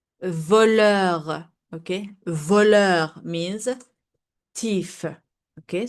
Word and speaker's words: voleur: Voleur means thief. Okay? So the R is pronounced normally.